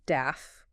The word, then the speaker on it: DAF: a dissolved air flotation it's pronounced daff okay and it's a